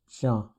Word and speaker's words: chien: This is pronounced as chien with a nasal sound.